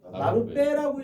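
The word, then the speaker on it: 나룻배: 나루 더하기 배. 이거 뭐라고 읽어? 네. 나루 빼라고 읽으니까 뒤에가 된 소리로 내는 게 되죠.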